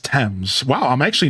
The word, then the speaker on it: Thames: So my thought is Tamez. It looks like the word Thomas with 2 different letters. So my first thought is Tamez. It's just pronounced Thames.